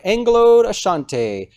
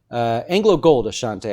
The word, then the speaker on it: AngloGold Ashanti: it actually looks like Anglo deshante AngloGold Ashanti I'm gonna just finally say it right I always say Anglo de anyways hit new